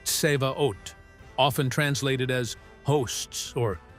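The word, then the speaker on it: צבאות: And then there's the original Hebrew word pronounced seaot, often translated as hosts or armies.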